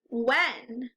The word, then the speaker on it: when: But the H is silent in this word. Say it without the H. W, n. When. There, now it makes sense. The H is just quiet.